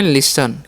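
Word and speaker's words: listen: करना है एसटी है तो यहां पर टी साइलेंट होता है ठीक है तो इसे हम क्या पढ़ते हैं लिसन क्या पढ़ते हैं लिसन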